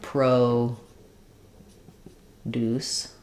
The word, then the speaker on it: produce: word like uh produce the noun you'll see the stress is in the first syllable so that's where they'll put the line and you'll see the O now becomes an O instead of an u sound Deuce is still a clear syllable here but it's going to be shorter now so I'm going to have Pro Deuce where this Deuce is going to be faster produce stretched it produce not stretched stretched on Pro but